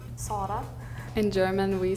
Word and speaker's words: Zara: like O more than Sara. Zara. But I think, I'm not 100% sure everyone says that, but just Z, we don't have words with it that much, so we just say like S, I think.